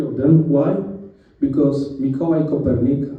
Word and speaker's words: Mikołaj Kopernik: Because Mikołaj Kopernik, I am pronouncing in Polish, because he was from Poland, was the first guy,